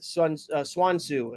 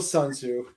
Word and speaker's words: Sun Tzu: It's part of the Swan Tzu. I think it's Swan Tzu. It's called. That's it. Yeah, Dennis, pronounce it right, you racist. Yeah. Lord. Still Sun Tzu.